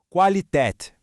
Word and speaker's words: Qualität: Qualität. Foca bem no comecinho. Qua. Qualität.